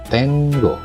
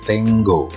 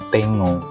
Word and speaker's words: tengo: Atau kalau ingin mengucapkan cepat, kamu bisa menyebutkan seolah-olah ada huruf NGG. Ya, contohnya tengo. Atau kalau mau diucapkan dengan cepat nggak masalah kalau kamu menyebutnya tengo. Tapi akan salah kalau kamu menyebutnya seperti bahasa Indonesia, tengo. Itu salah ya.